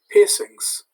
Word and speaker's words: piercings: is forbidden to wear piercings notice that's pronounced like the english word as it comes from the english expression and i think that